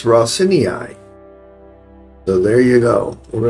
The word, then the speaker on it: Raseiniai: campaign and I did look up how to pronounce this it's rosini so there you go we're going to load